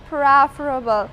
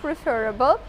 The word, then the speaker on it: preferable: not with Progressive form it's adjective form it's pronounced preferable not preferable for example natural clothes are preferable if you're